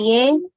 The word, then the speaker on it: 의: Dibaca ye karena sebelumnya vokal.